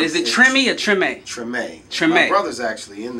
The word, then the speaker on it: Tremé: How do you pronounce it? Is it Tremé or Tremé? Tremé.